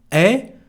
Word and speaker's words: est: You remember the sound U to say tu, the pronoun you, est, the verb, we don't pronounce the S, de, quelle.